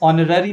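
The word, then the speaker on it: honour: तो ऑनर का हमारा जो फर्स्ट साउंड है एच ये साइलेंट है। और कहां से हमारा जो साउंड आ रहा है? ओ से। और वो कौन सा साउंड क्रिएट कर रहा है? वो प्रोड्यूस कर रहा है आपका वोवेल साउंड।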